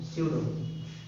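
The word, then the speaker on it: pseudo: स्यूडो ऐसे लिखते हो बच्चों, PSE है ना, UDO, स्यूडो, P साइलेंट होता है, स्यूडो, ठीक है।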